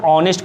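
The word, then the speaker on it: honest: क्योंकि इसको एच है लेकिन एच साइलेंट होता है, इसको ऑनेस्ट पढ़ते हैं, ऑनेस्ट।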